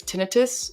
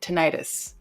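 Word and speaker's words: tinnitus: people who have um now you might pronounce this tinitus and some might pronounce it tenius um but the ringing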